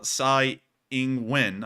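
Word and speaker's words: Tsai Ing-wen: Taiwan um called uh Sai ingwin I believe is the correct pronunciation made a response to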